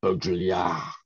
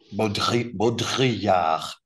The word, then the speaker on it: Baudrillard: I can't do the French, but a good French person would say something along the lines of Baudrillard. Baudrillard.